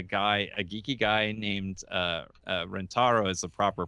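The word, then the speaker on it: Rentaro: was was a guy a geeky guy named rent ro is the proper pronunciation but we said renter oh and who was a guy who worked on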